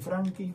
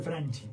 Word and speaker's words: Franchi: la invitación está bien Franky franchi cómo le correctamente bien dicho Franky no nos animamos nosotros a decir Franky porque si no se escribe lo castellanizado hace mucho tiempo bien pero la gente le dice franchis no sí comúnmente si nosotros mismos nos decimos franchis por las dudas No